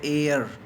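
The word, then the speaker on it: heir: एयर, यहाँ पर H silent है, एयर, हेयर नहीं एयर।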